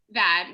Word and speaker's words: Vaid: Okay, so I was reading about, I'm not sure how to pronounce it, is it the Vaid Group? Vaid, yeah. It's Vaid Group.